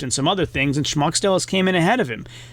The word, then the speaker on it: Smaukstelis: The SM is pronounced more like an SHM, and the accent is on the first syllable, so it's Smaukstelis.